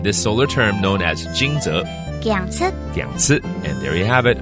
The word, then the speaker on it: 驚蟄: 驚蟄，到了驚蟄，雷聲響起，驚醒冬眠的昆蟲動物們。Thunder happens around 驚蟄 that awakens all the hibernating insects and animals.